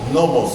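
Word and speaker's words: νόμος: vocábulo griego nomos nomos acento en la o nomos la primera o esta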